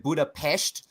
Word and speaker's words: Budapest: started off in uh Budapest or as they call it Buddha PES because because I'm going to have to do the wankery thing and say it the way the locals say it you know to appease